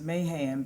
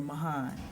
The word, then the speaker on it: Mahan: basis and it's funny I always want to say his name is Mayhem because my home Church in Virginia's First Baptist Church Mahan Street and so every time I see your name I have to remember Mahan but in the Southeast